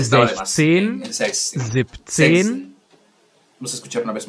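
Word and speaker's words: siebzehn: Zibzen. Vamos a escuchar una vez más la pronunciación. 16. ¿Verdad como sech? Setsin. Escuchemos. Suena como una sech. Sech. Sech. Zen. Zibzen.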